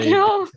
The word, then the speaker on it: homogeneous: The way they were pronouncing homogeneous, that's actually the homogeneous. Homogeneous. Hold on. It's the American way of saying it. The British colonies homogeneous. Yes, homogeneous. So it's actually not wrong.